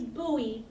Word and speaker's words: Bowie: called Mary land my sister said the city's Booey but it's spelled like Bowie like David Bowie but it's